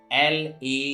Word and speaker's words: laugh: In some rare case, GH gives the sound of for, and in that condition, GH is not silent. As L-A-U-G-H. So here GH gives the sound of for, laugh, R-O-U-G-H, rough, C-O-U-G-H, cough, etc.